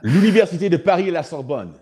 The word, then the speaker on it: L'Université de Paris à la Sorbonne: Did I pronounce that right? We got to work on your French, brother. L'Université de Paris à la Sorbonne.